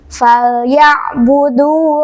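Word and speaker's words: فليعبدوا: Kemudian falyabudu rabb hadzal baiti. Nah, di sini lam sukun ditekan membacanya, hati-hati. Kemudian ain sukun juga ini harus ditekan membacanya. Jangan sampai dipantulkan fal ya.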